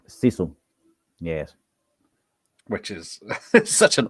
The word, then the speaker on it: Sisu: Yes, Sisu. Sisu. It's pronounced Sisu.